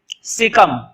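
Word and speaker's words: caecum: तो लिखो, पहला पार्ट होता है लार्ज इंटेस्टाइन का सीकम। बोर्ड पे स्पेलिंग देख लेना, गलत हो सकती है। सीकम ऐसे लिखते हैं, सी बोलेंगे, ए ई साइलेंट है, कम, सीकम।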